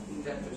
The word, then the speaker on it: indebted: বলো না আমি চাই না বলবো হ্যাঁ indebted fine. Beta silent, indebted. The B is silent.